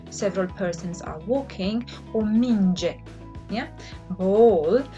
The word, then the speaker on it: minge: Mergeți, which means you, several persons are walking, or minge, yeah? Ball. And it is pronounced sort of like the J in the English general. All right?